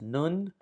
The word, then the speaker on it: nun: Uh, but it has an N transliteration value and it's pronounced nun.